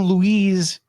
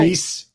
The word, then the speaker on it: Luis: Everyone calls him Louise, and then they call me Louise. I'm not Louise. I'm Louis.